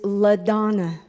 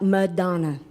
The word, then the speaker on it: LaDonna: It is LaDonna. It is not Madonna.